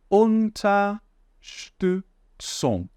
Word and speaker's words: Unterstützung: Die unter, primeiro você vai falar o unter, depois você vai falar st, depois Song. Die Unterstützung.